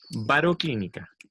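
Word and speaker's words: baroclínica: latitudes media la inestabilidad se llama bar o clínica en acento en la iv pero no se lo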